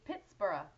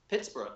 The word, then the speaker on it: Pittsburgh: If it has the H, it's the same. So it should be Pittsburgh. Pittsburgh, yeah.